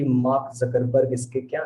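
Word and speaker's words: Zuckerberg: सभी बच्चे सुने होंगे कि मार्क जकरबर्ग इसके क्या है, मालिक है। कुछ लोग जुकरबर्ग कहते हैं, कुछ लोग जकरबर्ग कहते हैं। प्रोनाउंसिएशन तो हमको जकरबर्ग ही लगता है।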